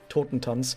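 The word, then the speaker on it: Totentanz: taught in tons and that's the way you pronounce it tottentons is german for dance of the dead i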